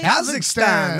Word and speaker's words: Kazakhstan: Somebody says hello from, is it Kazakhstan? Did I pronounce that properly? Kazakhstan.